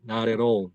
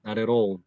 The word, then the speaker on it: not at all: 그래서 이런 것도 not at all 이런 식으로 이제 발음이 원래 예상이 되는데 이걸 해보면은 t가 이게 굴려진다는 거예요. 나레로 나렛 roll, not at all, not at all. real, real, not at all, not at all, not at all.